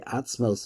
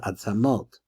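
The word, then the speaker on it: עצמות: a person, because the atzmos of a person is the person himself. Now, in Hebrew, they pronounce it ivrit, they pronounce it atzamot.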